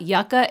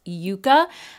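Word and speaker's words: Yucca: the long u however yucka is actually a desert plant and that's what this palette was inspired by and it has the short u so I just wanted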